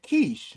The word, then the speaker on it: Keish: So my friend Keish, right? That's how she pronounces her name. But I call her Kesh, right? So y'all see me saying Kesh, y'all hear me saying Kesh, and y'all reading it and it says Keish.